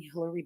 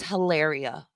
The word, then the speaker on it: Hilaria: Oh my god, Chantal's becoming Hillary Baldwin. Hillary Baldwin. When does the fake It's Hilaria. Her name is pronounced Hilaria. accent start?